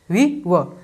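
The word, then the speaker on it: were: अब देखिए वर को पूरा प्रोनाउंस मत कीजिएगा, वर नहीं आपको बोलना, वी वह बोलना है।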